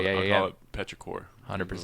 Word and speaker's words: Petrichor: That's like you can't even sound it out. It's not phonetic. It's Petrichor.